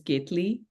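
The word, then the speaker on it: केतली: so this teot in in Hindi the word is ketlee ke tle e e gly so when Jeanette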